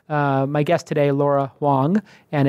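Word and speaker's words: Huang: my guest today Laura Wong and it's pronounced well it's pronounced wong wong but it's spelt and you can follow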